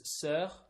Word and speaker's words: sœur: It's a C and then O-E and then U-R. Yeah. So it's actually the word for sister is sœur. Yeah. And it's the same O-E that is merged together. Okay. So it's that kind of sound.